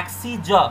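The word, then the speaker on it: axes: तो ये होता है एक्सी ज। रिमेंबर दोनों का प्रोनाउंसिएशन बस इतना ही अंतर है, इसका लास्ट में होता है स, इसका लास्ट में होता है ज, एक्सी ज।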